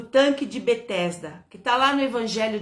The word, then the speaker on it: Betesda: Em hebraico, esse tanque se chama Betseda ou Betesda, né? Ou Betisada. Muda um pouco assim a pronúncia, mas é Betesda.